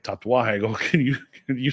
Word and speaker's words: Tatuaje: And he's like, tatuaje. I go, can you spell that?